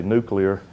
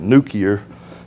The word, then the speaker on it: nuclear: on that one and unlike Jimmy Carter I can say nuclear instead of nuar so so my words